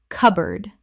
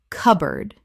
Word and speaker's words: cupboard: cupboard Common mispronunciation. cupboard Correct pronunciation. cupboard Two syllables in natural speech. The P is almost silent and board becomes erd.